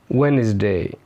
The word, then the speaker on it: Wednesday: اوكي، نيجي بعد كده حرف ال D بيكون silent في كلمات زي اللي جاية دي handsome Wednesday، برضو كلمة handkerchief handkerchief منديل sandwich sandwich.